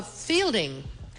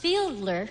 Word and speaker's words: Fiedler: Oh, Fielding. Fielding. Fielding. Fielding. I believe it's pronounced Fiedler.